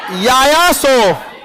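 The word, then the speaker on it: Yaya Tso: यायासो, यायासो। देखिए T silent होता है।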